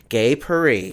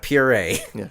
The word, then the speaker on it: Gay Purr-ee: this this is I'm gonna say it right gay Paree very good all right not puree because I've been saying